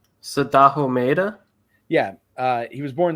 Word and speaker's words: Sadaho Maeda: Born, Eric, can you pronounce his name? Sadaho Mahida? Sadaho Maeda?